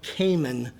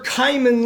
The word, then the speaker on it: Khayman: Kh a y m antopher cayman. That's also how you That's how you say it too. I've had so many people who sit there and say Kimman and I'm like that's Cayman.